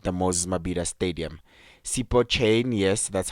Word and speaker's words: Chaine: in deran at the Moses maida Stadium SEO chain yes that's how you pronounce his name Cho chain he saved three